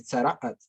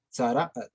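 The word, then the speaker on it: צרעת: explicaba también a Nati, hay que hacer una pequeña pausa cuando se lee aquí. Nega tzaraat, tzaraat, tzaraat. Esta comita representa esta letra ayin de aquí, que es como muy gutural, es como gutural como que se hace una pausa, ¿no? Y entonces se dice tzaraat, tzaraat, ¿sí?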